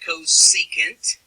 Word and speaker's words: cosecant: Sine has its own reciprocal, and it's pronounced cosecant.